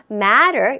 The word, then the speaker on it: matter: 모음과 모음 사이에 자음이라는 T가 들어가면요. 발음이 조금 약화됩니다. 요거는 하나의 발음의 법칙 중에 하나가 있으니까 요거는 여러분들이 꼭 체크해 두시고요. matter 이라고 있습니다.